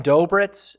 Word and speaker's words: Dobritz: the in that class Ryan dobritz is that how it's pronounced yes sweet Liberty Wentzville uh